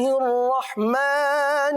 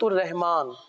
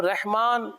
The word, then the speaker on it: الرحمن: اچھا, بعض اس کو یوں بھی پڑھتے ہیں سورۃ الرحمن. تو آپ دیکھیے نا, ہم ہجے کر رہے ہیں. را حا زبر کیا پڑھ رہے ہیں؟ رح. تو رحمان جو جیسے پڑھتے ہیں تو غلط ہو گیا نا, تو ہمیں پڑھنا ہے الرح.